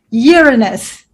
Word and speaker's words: Uranus: I try to remember how you pronounce it, the Australian way, Uranus.